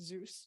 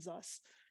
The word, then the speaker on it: Zus: our company is that it is pronounced Zeus not zus um and you might